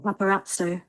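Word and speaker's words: paparazzo: तो Italian words में दो जेड इकट्ठे आते हैं। उनकी प्रोनाउंसिएशन कैसी हो जाती है? त और स पहला जेड त दूसरा जेड स।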